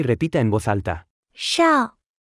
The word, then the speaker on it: 少: 少少少少少少少 Se pronuncia con el tercer tono.